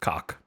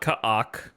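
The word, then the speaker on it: Kha'ak: It is pronounced cock. Not ka'ak, which is what I would normally say, but cock.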